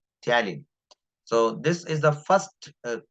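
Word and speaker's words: ptyalin: aware about it uh talin talin is a word used for salivary Ames p is silent here talin so this is the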